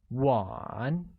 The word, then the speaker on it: 碗: Bowl becomes 碗, which again has a falling rising tone.